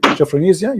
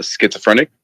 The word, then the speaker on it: schizophrenic: would not accept him because he have what japhenisia you said that right i don't know how to say correctly say it again please how do you say that word uh schizophrenic schizophrenic okay that's that's a big word for